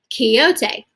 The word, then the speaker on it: Quixote: and read a little bit with me so Quixote which by the way is pronounced Quixote that's right I named him after the lead